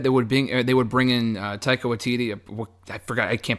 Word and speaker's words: Waititi: And you did say his name correctly. Oh, I did. Okay, Taika. Is it Waititi or Watiki? Is it Waititi? Titi.